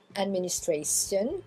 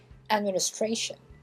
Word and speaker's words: administration: C'est pas administration ou station, hein, c'est administration. Administration. Shun.